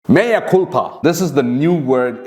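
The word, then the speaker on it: mea culpa: Maya culpa this is the new word it's spelled as mea c-u-l-p-a does the new word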